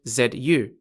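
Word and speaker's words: 卒: if you're on the red side or z-spelled z-u if you're on the black side both bing and the tsu mean soldier in english and are equivalent to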